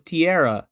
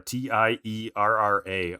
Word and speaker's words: Tiara: I'm like, her name is like a tiara, but no, it's Tiara, Tierra, almost like Terra, like ground.